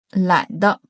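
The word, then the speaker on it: 懒得: 第三个特别常用懒的，懒的。注意发音的是轻声。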